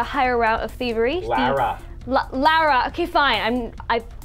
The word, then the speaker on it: Lara: Lara. Okay, fine. How do you say it, Claudia? Lara. See, she says it way better than me.